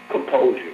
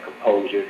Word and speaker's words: Composur: Well, my name is actually Composur, but it's spelled without the E. So on Twitter, you can find me at Composur, Composur, without the E, and underscore.